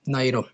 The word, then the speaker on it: Nauru: अब इसको नोरो नहीं पढ़ेंगे, अब नाइरो ही पढ़ेंगे, ठीक है, जो भी इसकी प्रोनाउंसिएशन है आप वो देख लीजिएगा।